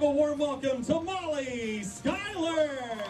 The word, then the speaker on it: Schuyler: molly skyler i said it right every year i've got to make sure i say her name right so i say it to her at least three or four times and then dan kennedy comes over and says it wrong schumer no not amy schumer